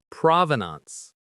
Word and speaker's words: provenance: Provenance. Provenance. Provenance. The stress is on that first syllable.